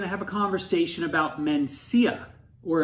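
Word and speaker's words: Mencía: have a conversation about mencia or if i actually knew how to pronounce it in spanish menthia okay welcome back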